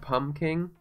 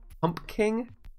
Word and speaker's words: pumpking: with luck wanted pumpkins not pom King pumpking are you implying that I need to pronounce the other P that's just weird dude you don't call it a yeah yeah you know you know it's it's pumpking pumpking it's like it's silent but it's still there pom king pumpking